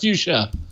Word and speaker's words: Fuchsia: Clearly, it's pronounced fuchsia.